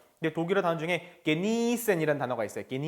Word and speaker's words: genießen: 'Genießen' 에는 'ie' 가 있으므로 장모음 으로 발음 해야 합니다 . 하지만 학생 은 계속 해서 ' genissen', 'genissen' 으로 읽었습니다 . 하지만 " geni" 가 아니라 "niesen" 입니다 .